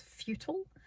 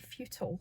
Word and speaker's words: Futtle: I went to, I think how this is pronounced is Futtle, F-U-T-T-L-E, Futtle. I think that's how it's pronounced.